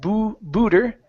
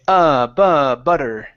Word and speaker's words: butter: Okay, next up is butter, right here instead of booter. Okay, butter.